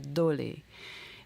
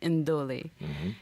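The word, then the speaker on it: ndolé: And she told me about the national dish of Cameroon, which is called the dole. Now, there's an N in front of dole, so you have to pronounce it like indole.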